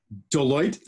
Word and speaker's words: Deloitte: Deloitte. Deloitte, thank you.